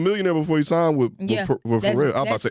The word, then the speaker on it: Pharrell: Slim Thug was a millionaire before he signed with Pharrell. I'm about to say, my nigga, I'm about to say Pharrell. The P is silent.